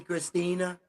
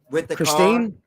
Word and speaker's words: Christine: Bruce have you seen Christina Christina Christine Christine yeah yeah okay I said it wrong they uh yeah dude